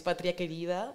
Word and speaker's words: Patria Querida: I don't know how is your Spanish going, Jonas, but but yeah, you pronounce it right. It's Patria Querida, it's my political party.